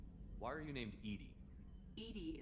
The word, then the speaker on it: EDI: are you named Ed Ed is the phonetic pronunciation of Eed that acronym for enhanced defense intelligence what do you do